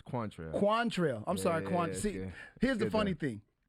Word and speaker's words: Quantrelle: You said Quantrelle, but it's Quantrelle.